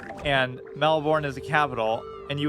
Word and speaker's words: Melbourne: It's pronounced Melbourne, not Melbourne, I guess.